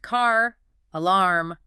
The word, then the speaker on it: car alarm: In standard British pronunciation, the R at the end of car is usually silent. They say ka. But when the very next word begins with a vowel like alarm, that sleeping R suddenly wakes up to act as a bridge. The phrase is pronounced car, alarm, car alarm.